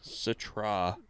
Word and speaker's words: Citra: mosaic citrus probably like pines citra citra it's pronounced citra yeah the galaxy that's what i'm not really